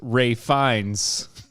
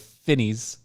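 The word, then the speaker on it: Ralph Fiennes: mate still pissed the actor ralph fine's name is supposedly pronounced ray finds instead of finis or finesse fine yeah i know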